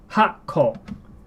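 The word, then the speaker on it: 八個: So it's using the small tsu to pronounce the words here. Hako. And remember, small tsu, it means a break or a pause.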